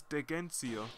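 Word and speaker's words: Dheginsea: Yeah, it's Degensee. That's how I heard them say it in the cutscene, which I've cut out because I'm not sure if you guys like to see cutscenes.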